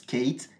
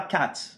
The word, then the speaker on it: Kate: Et du coup, dans la prochaine vidéo, on verra quel est le contexte de tension qui fait que Kate se prononce Kate et pas Cat.